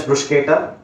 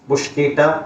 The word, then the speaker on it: bruschetta: One of them is bruschetta. Bruschetta you can pronounce at 2 ways, bruschetta and bruschetta also. So it's American and UK English, which is a bit different how we pronounce it.